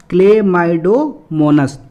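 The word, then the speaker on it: Chlamydomonas: तो देखो यहाँ तक एक बार में आपको प्रोनाउंस दिखा, यहाँ तक प्रोनाउंस करो पहले, यहाँ तक। तो क्या है? क्लेमाइडोमोनास। क्या है? क्लेमाइडोमोनास।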